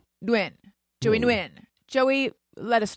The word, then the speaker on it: Nguyen: Are we saying? Nguyen. I think Is there am I pronouncing the N or no? I think I'm it's like so Joey. subtle. I think it's a very, very subtle.